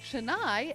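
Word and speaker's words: canai: Roy means bread and chai yes pronounced with a CH derives from chai spelled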